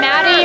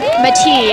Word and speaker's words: Matti: Yeah, we'll call him Maddie or Matti, is it, you know, if we were in Finland, but Matti, yeah.